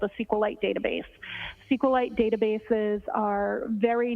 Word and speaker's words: SQLite: as far as the sqlite database uh how is that spelled it is capital SQL lowercase i te and sqlite uh is also commonly pronounced as SQ light so both pronunciations are acceptable now once you received